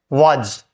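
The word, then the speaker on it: was: ही अपन बोलते हैं वाज जज बोलते है वाज नहीं है साउंड होगा वज ज ओ जैसा साउंड देगा ऐसे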